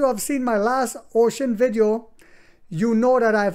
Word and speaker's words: Uxin: is no other than ux i n pronounced ocean a future giant analyst